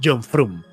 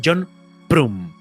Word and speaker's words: John Frum: Dice, "No, lo pronunciáis mal. No es John Frum, es John Prum con P.